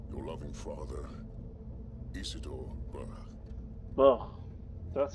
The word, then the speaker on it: Burr: Burr. That's how you pronounce it.